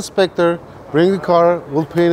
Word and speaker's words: Spectre: Said it wrong again. Spectra. Okay, what's the name then? So who has a Spectre?